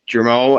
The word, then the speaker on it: Germain: it is mr germain out of did i say your name right man i i'm sorry i should've asked you beforehand yeah you did great it's pronounced like geronimo well it's good it's